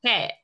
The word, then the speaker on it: Phuket: Phuket.